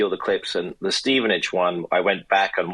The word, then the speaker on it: Stevenage: And the the clip that we played at the beginning that was how how do you pronounce this team? It's a fourth division team. Yes. Stevenage. Stevenage.